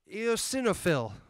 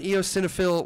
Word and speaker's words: eosinophil: give it up for Asher ranoo Rachel eosinophil did I say that right I said it